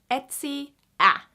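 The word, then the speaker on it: etsiä: Etsy it's kind of the same pronunciation as that I believe but then you just add the a at the end Etsy a and then you kind of like say it fastly together and then we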